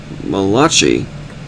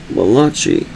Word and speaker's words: Malachi: In addition to the difference in the numbering of the Psalms, the books of Jeremiah and Malachi is spelled M A L A C H I show differences in the chapter.